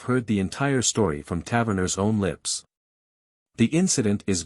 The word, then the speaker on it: Taverner: According to this source, 38 Taverner, or Tavney, as the name is locally pronounced, felt something get up